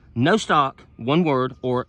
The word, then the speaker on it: Nostoc: it's a it's a bacteria and it's called no stock one word or no stock n-o-s-t-o-c google that and there's really not a